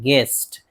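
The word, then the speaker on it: guest: जैसे गेस्ट, गेस्ट देखिए जी के बाद यू है तो यू को नहीं पढ़ना है, ग्विस्ट नहीं पढ़ना है, गेस्ट मेहमान।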